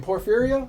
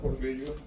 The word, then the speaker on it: Porfirio: How do I say your name? Porphyria? Porfirio. Oh, I say it right.